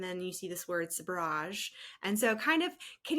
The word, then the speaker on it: sabrage: So sabrage, in English Oxford Dictionary, it was pointed out to me at an event in London that this is how you say it in English properly. Sabrage.